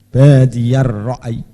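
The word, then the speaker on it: بَادِيَ الرَّأْيِ: Ra'yi ra'i. Ya-nya jangan ditasdid. Jadi pokoknya tidak kencang. Badiyar ra'i.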